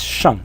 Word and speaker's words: 上: things that are below the ground, and it's pronounced xia. So this is shang, and this is xia.